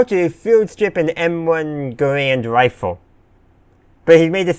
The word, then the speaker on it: Garand: And he says Garand, not Garand. No, he says Garand, not Garand. One is how most people pronounced it, and one is how the developer of the rifle pronounced his own last name, which is where the name comes from.